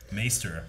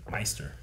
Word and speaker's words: maester: supposed to say like instead of maester i'm saying meister maybe that's like that